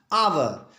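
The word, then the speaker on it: hour: पर ये जानिए कि आवर का प्रोनाउंसिएशन करते समय एच का साउंड साइलेंट होता है और इसका हम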